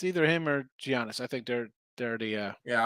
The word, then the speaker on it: Giannis: It's Giannis. Has a G in front of his name.